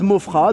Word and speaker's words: Maufras: Donc, Mofra avec un S à la fin qui ne se prononce pas. Ouais, c'est pareil. Ouais, c'est comme ça. Mofra, donc M-A-U-F-R-A-S.